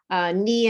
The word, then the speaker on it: knee: Knee and knife, the Ks are silent.